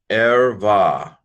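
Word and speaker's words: ערוה: This is a short vowel, so this is a silent schwa. This syllable's closed. Vav, that's a real vav. V, and then a kamatz hey, which is a vowel combination. This is a long A with a hey, but the hey is kind of not really there in a way.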